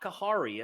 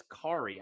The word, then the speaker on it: Khari: tell you Derek that the H is silent so it's not kakari it's Corey I just wanted you